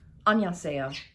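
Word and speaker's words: 안녕하세요: taking his lead and using the way he pronounces hello, which is annyeonghaseyo.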